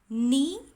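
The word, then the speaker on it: knee: जैसे ये वर्ड्स आप लोग पढ़ेंगे, नी, नाइफ, नॉट, नो. तो इन वर्ड्स में क्या कॉमन है, इन वर्ड्स में के का साउंड आ नहीं रहा है जब हम ये वर्ड्स को प्रोनाउंस करते हैं. सो के इज साइलेंट.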